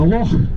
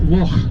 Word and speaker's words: loch: But the difference is, a loch can be either freshwater or saltwater, but a lake can only be freshwater. And let's get the pronunciation right from the start. It's loch at all.